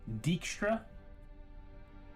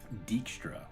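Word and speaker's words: Dijkstra: Dickstra. Dickstra.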